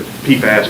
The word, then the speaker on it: PFAS: Is that PFAS? Am I pronouncing it correctly? PFAS, PFOS. Okay.